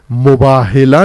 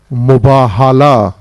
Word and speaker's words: مباہلہ: مباہلہ نہیں ہے بلکہ مباہلہ، ہے پر زبر ہے، میم بے الف ہے 2 آنکھوں والی، لام اور گول تے.